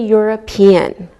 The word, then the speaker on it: European: Same with a European. We pronounce the E and it sounds like a Y.